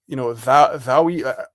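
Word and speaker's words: daoi: It's like, Thaui.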